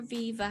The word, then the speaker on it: Viva: Is it a Viva or a Viva? How do you pronounce it, Moiz?